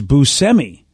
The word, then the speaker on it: Buscemi: and it turns out we've been saying steve buscemi's last name wrong all these years uh and i said it wrong so you'd know who i'm talking about his name i guess is busemi which is which by